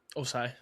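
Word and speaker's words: Ossai: Osai.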